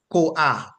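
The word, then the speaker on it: koach: k o a c h and it is pronounced COA right COA with a emphasis on the AG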